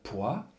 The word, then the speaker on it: poids: Alors ici, vous remarquez qu'on a une première approche des lettres muettes, et le S de poids est grisé, donc de manière à ce que justement les élèves, en transcrivant la syllabe, n'écrivent que les lettres qui se prononcent, P-O-I, et non pas cette lettre muette.